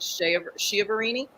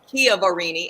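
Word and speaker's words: Chiaverini: pause just for a minute last week I mispronounced Jennifer Kia varini's um last name I kept calling it shiverini it's Kia varini and I apologize deeply for screwing that up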